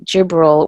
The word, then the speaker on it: Jibril: her name means God is my strength it's pronounced Gabriel in Arabic and Jibril with a J in Islam he serves as